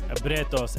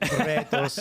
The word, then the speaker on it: Bretos: back with Max Bretos. And I did want to ask because... That's the best pronunciation yet. Bretos. Bretos. Max Bretos.